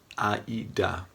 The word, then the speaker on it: AIDA: for your own marketing it's called aida german pronunciation aida stands for attention